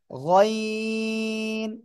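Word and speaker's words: غين: নয় এটা হবে গাইন গাইন তিন আলিফ টান হবে মোটা আওয়াজে গলার শেষ ভাগ থেকে উচ্চারণ হবে ওকে গইন শব্দের শুরুতে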